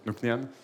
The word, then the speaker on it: Nc'nean: Je crois que la prononciation, c'est bon. Nc'Nean ?